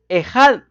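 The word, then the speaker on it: אחד: Esa frase, una sola carne, en el original, mis amados hermanos, habla de una palabra que se pronuncia más o menos así en español, ejad.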